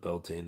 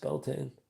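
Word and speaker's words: Beltane: And I know it's not beltine. It's pronounced Beltain.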